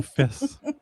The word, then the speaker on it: Fest: juste sur le bon fess on prononce pas tant le T. J'ai remarqué tout à fait d'accord avec toi. Ça ça sonne som fess.